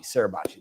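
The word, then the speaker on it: Suribachi: uh mount um uh how do you say that sarabucci i might be saying that incorrectly i'm not saying that uh but where you read the great story sarabachi sarabachi that's how you say that um the whether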